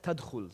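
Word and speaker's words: تدخل: So for example, this word here is spelled ta, da, kha, la, but it's pronounced as tadkhul.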